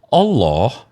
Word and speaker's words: Allah: kita buka di KBBI Allah nama Tuhan dalam bahasa Arab jadi kata Allah ini diserap dari dari mana dari mana bahasa arabah alif lam lam ha itu pronounciation-nya Allah bukan Allah he siia dengarin dulu